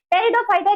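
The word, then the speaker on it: Pteridophyta: टेरिडोफाइटा की spelling P से start नहीं होती है। पी से स्टार्ट होती है। पी वहां पर साइलेंट रहता है।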